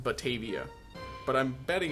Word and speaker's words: Batavia: I'm going to call this place Batavia.